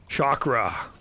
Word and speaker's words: Shockra: You dare mock the God King Shockra. That's my name. The God King Shockra. And it's spelled shock and then raw, like R-A.